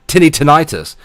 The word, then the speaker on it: tinnitus: me moaning about your tinny tinnitus I have to pronounce it like that because Americans get angry when I pronounce it the wrong way for them um tickle as in